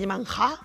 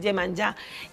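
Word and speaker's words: Iemanjá: I veniu en la deessa Gemanjá, m'han ensenyat a pronunciar-ho bé, perquè jo deia Gemanjá. No, és Gemanjá. Gemanjá.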